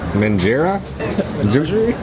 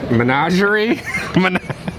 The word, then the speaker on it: menagerie: do you bread how do you say that mangera menagerie menagerie okay it's a menagerie cupcake ginger gingerbread